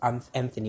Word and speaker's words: AnthXny: It's pronounced, the name is pronounced AnthXny with an X, but spelled A-N-T-H-X-N-Y.